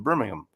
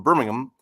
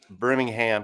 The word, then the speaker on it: Birmingham: So, it would have been good to have someone from Birmingham. And I've learned you got to say it like Birmingham. You don't say Birmingham. You got to say it with without the H.